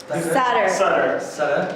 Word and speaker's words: Sutter: Sutter. No problem. I make the mistake often, trust me. I mispronounced Linda's name yesterday as well, so it does happen.